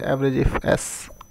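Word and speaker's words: AVERAGEIFS: हमारे पास एवरेज इफ्स है, तो उसको लोग बोलते हैं एवरेज इफ एस।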